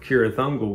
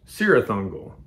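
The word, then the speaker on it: Cirith Ungol: call sauron saron kirathungal the tower of kirithungal was called sirathungal because it had a c and you know at the time i didn't realize that you know that c is really a k sound uh even tolkien's name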